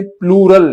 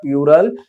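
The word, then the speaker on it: plural: ये लिखा है मैंने प्लूरल, इसको बच्चे गलत पढ़ते हैं, प्यूरल प्यूरल करते हैं। That is नॉट प्यूरल, इट इज प्लूरल।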